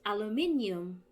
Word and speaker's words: aluminium: american or filipino it's a l u m i n u m so yeah we omit the u alumin but it's aluminium not aluminum it's aluminium guys the in the periodic